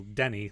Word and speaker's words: Teni: Like my name, for example, Denny. Like it's said like it's spelled Denny, which is a common, or at least was a common, like an anglophone name. But my name is spelled Teni with a Yeah. T, and that's because it only happens to sound like an English name, but it's actually a just a Mohawk nickname.